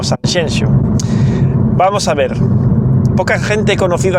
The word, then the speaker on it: Sanxenxo: Lo que está diciendo la gente de que en español no se puede decir Sanjenjo, sino que hay que decir Sanxenxo, es tenemos que imponer cómo se pronuncian las cosas en galego a otros idiomas.